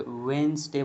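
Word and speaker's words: Wednesday: तो यहां पर डी साइलेंट हो जाएगा। जैसे वेडनेसडे बोलेंगे इसको।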